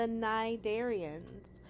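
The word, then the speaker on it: Cnidaria: Our second phylm, the nidarians. The sea is silent.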